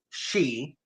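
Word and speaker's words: sidhe: Then you got the side which is Irish pronounced she.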